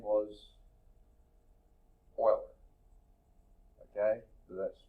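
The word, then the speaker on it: Euler: the first one really to identify name was Oiler okay so that's spelled e l r and that I think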